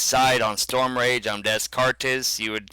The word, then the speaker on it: Descartes: Like I said, Alliance side on Storm Rage, I'm Descartes, you would pronounce it.